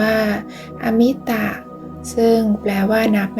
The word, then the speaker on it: อมิตะ: สิ่ง ที่ นับ ได้ หาก เติม อะ ไป ข้าง หน้า จะ อ่าน ว่า อมิตะ ซึ่ง แปล ว่า นับ